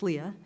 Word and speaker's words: Leah: So, and it's, just to be clear, I think it's Leah, right? Not, it's Leah, two syllables.